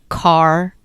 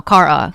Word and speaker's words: Kara: That opening scene we get an introduction to Kara, name pronounced Car. I had to look that up. Yes. Kara? No, Kara. Car like a car?